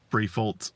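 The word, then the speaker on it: Briffault: So it's like B-R-I-F, fault, as in like faulty. Briefold's Law.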